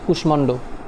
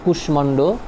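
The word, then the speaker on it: কুষ্মাণ্ড: কি থাকে বহাল থাকে যেমন আমরা যেটা দেখে থাকি যে কুশমান্ড এখানে মধুনিশ্বের সাথে তোমার একটা মার যুক্ত আছে ওকে তাহলে ওই কারণে তোমার যখন উচ্চারণটা করা হয়েছে তখন কুশমান্ড এই মর উচ্চটা আসছে ওকে তাহলে এখানে দুইটা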